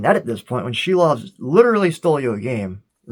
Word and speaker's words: Silovs: know, I see now, Silovs. It's a tricky name, but yeah, Shilovs is the apparently correct pronunciation.